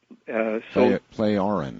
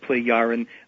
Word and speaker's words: Plejaren: Plejaren. Plejaren. Yeah, so the J is a Y or an I kind of a sound. Plejaren.